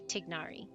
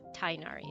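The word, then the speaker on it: Tighnari: actors mispronouncing technari's name it's actually tignari it's not tainari it's tignari and the English voice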